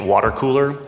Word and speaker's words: WTRCOOLR: And look at, for social media to generate content, you should look at Water Cooler. It's spelled WTRCOOLR. There's a lot of companies like them that are also generating content.